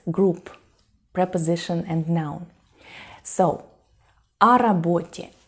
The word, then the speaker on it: о работе: And you know, of course, that when o in Russian is unstressed, it's pronounced more like a. So we don't say о работе, we say о работе.